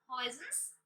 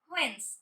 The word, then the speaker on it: Huygens: The scientist Huygens suggested that students, this one is Huygens, but Huygens Dutch के scientist थे, इसलिए we pronounce that Huygens.